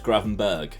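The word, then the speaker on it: Gravenberch: good header as well the ch in granbatch is pronounced the same way as patrick berg so it's gravenberg i'm never gonna remember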